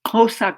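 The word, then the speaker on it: Xhosa: africa also particularly among the south african khosa khosa community that's how you pronounce the word so with that i ask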